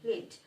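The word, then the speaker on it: lead: লিড এটি কিন্তু আরেকটি উচ্চারণ আছে লেড, তখন কিন্তু সেটি একটি ধাতু বোঝায়, কিন্তু এখানে কিন্তু এটা একটি ভার্ব। ধাতু বোঝালে সেটি নাউন, ভার্ব বোঝালে সেটি আলাদা পার্টস অফ স্পিচ। সো আমাদের উচ্চারণটা কিন্তু শব্দের ব্যবহারের উপরও ডিপেন্ড করছে।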